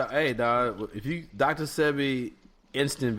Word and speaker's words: Sebi: me, definitely the doctor, is it Sebi or Sibi? I think you said Sebi, right? I think it's Sebi. Yeah, I believe so. That's the proper pronunciation.